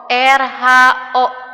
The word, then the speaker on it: rho: Ini dibacanya Rho. R-H-O. Rho.